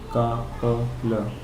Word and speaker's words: Coppola: Now, how do you pronounce Coppola or Coppola? Coppola. Right. Coppola. You have earphones with us. Why don't we play it for you guys too? Coppola. Right. So that's Coppola.